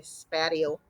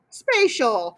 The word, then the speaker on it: spatial: correctly nice job because people always want to say spatio not spatial what is it dominic spatial so spatial think of the word space describes what a space such as a